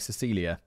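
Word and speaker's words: Cäzilia: Note here, it's spelt like Cazilia, but apparently you pronounce it like Cecilia.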